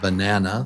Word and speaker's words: banana: That 3 and 2, that means there are 3 beats in banana, 3 claps. Banana, banana, and number 2, syllable number 2 is the strong syllable.